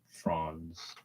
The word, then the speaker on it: Franz: Problem with the Magic is they've got what is it, Franz or Fraz? I think it's Franz is how you say it.